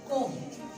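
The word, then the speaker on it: comb: हमने लिखा कोम, कोम्ब नहीं लिखेंगे, एक कोम जो बालों में कंघी की जाती, कोम्ब वर्ड है, कोम्ब वर्ड नहीं है, क्योंकि तो बी पे खत्म हो रहे हैं तो बी साइलेंट हो जाएगा।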